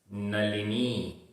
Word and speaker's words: नलिनी: नलिनी, नलिनी, यहाँ ला में छोटी की मात्रा और ना में बड़ी की मात्रा, तो दोनों के उच्चारण में डिफरेंस होना चाहिए।